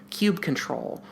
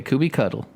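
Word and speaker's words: kubectl: a command line application called cube control or QB control or cute or cube control or Kuby cuddle or 115 other different names let's spell it out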